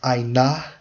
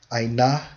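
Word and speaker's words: עָנָה: And it's pronounced as ainah, ainah.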